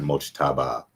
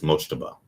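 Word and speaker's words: Mojtaba: It's not Mochaba, it's Moaba. I know you're having a hard time pronouncing it in America, but you guys will get it.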